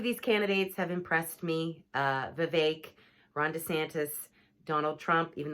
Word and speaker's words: Vivek: the race, Vivek, and his name is pronounced Vivek. So there's a lot of people who mispronounce his name. So please get it right. It's like cake, but it's Vivek.